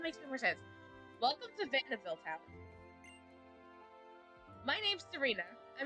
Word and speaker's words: Vanneville: I always just pronounced it Vanville. There's literally another I right there that would clearly make a sound, so I'm trying to figure it out. Vanneville. Vanneville. We'll say Vanneville.